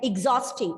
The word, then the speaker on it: exhausting: Many words starting with the letter E, instead of using the A sound, it has been reduced to the short E sound, like exhausting.